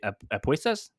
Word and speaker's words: apuestas: No, the wagers thing where luchas de apuestas.